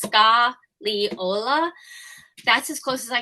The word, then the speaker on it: Scagliola: It's Scagliola. That's as close as I can get. Not being an Italian speaker, Scagliola, the G is silent.